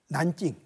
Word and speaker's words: 난징: 여기서 군사학을 공부하다가 한때 여름방학을 맞아서 잠시 귀국을 했다가 다음 해에는 다시 난징, 남경이라고 그러죠. 한문으로는 남경이고 중국 발음으로는 텐징, 난징, 남경 대학살 사건이 있었던, 거기에 있었던 금능대학에 들어갔죠.